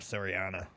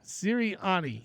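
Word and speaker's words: Sirianni: oh man you love Serana I like Serana serani you making me say his name wrong sirani sirani I love serani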